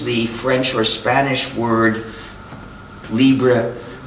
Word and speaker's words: libre: We are starting to use the French or Spanish word libre. I'm pronouncing it anglicized, as a way of saying free as in freedom, to make it more clear.